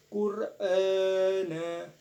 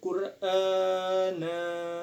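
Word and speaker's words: قُرْآنًا: Qur'ana. Nah, di sini ada hukum bacaan mad badal. Sebab huruf alif berharokat, fathah berdiri dan panjangnya 2 harokat. Qur'ana.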